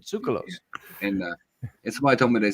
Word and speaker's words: Tsoukalos: Sulakis. Yeah, I can't. I'm sorry. What was that, Sarah? Giorgio Sulakis, the one with the hair. Yeah. Troll hair. Giorgio Tsoukalos, he pronounces it. Tsoukalos.